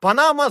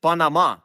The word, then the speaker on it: Панама: часто передаючи написання вірна ми плутаємо наголос бо очевидно на мапі чи в підручнику не пишуть на який склад наголошується і так ми маємо само замість самого Канада замість Канада Панама замість Панама А якщо забуваєте послухайте